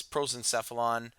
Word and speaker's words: prosencephalon: brain are sufficient terms the way this is pronounced is prosencephalon mesencephalon for the midbrain and rhombencephalon for the